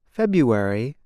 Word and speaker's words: February: the word for example the month February is said like this February the R is not pronounced instead speakers make a yaw sound now you try it